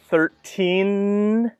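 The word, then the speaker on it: thirteen: not all the time for 13 to 20 we can listen for the T sound in the middle for 30 to 90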